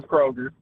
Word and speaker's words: Kroger: First, there's no S in Kroger. Secondly, I believe I said it right. You put an S on there, and There is Kroger. It's Kroger, and it vexed me.